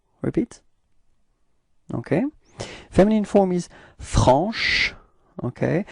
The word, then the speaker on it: franche: So I insist a little bit on the sh at the end, but that's just the idea, you know, to show you how you should pronounce it, okay? But then it should be pronounced like franche.